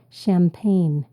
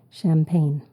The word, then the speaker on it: champagne: shangin or shangin Jo champagne we pronounce it as a shsh sound but it starts with a CH champagne word number six close